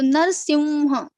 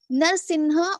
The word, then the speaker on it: Narasimha: So Narasimha is correct. Narsimha or Narsimha. So as you told, it is correct that in south they pronounce Narsimha, or in north they pronounce Narsimha, but both are not correct according to Okay. Panini grammar. It's not Okay. like they are saying something wrong, but it's not correct according to Panini grammar.